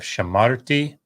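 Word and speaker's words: שָׁמַרְתִּי: i watched i guarded notice the accent is here the t ending is not heavy in that sense so it doesn't draw the accent so you don't have shamatha t you have shamarti notice the comets pathak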